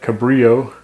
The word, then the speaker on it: Cabrillo: Point Cabrio Lighthouse that's how you say it Cabrio and on a sawblade thanks for watching